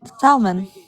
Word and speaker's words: salmon: Do you guys pronounce do you Salmon. pronounce the L in salmon? Salmon. Salmon. I It's don't fucking salmon. know. Audrey's like, I don't fucking No, know. it's salmon. No, no L. Salmon.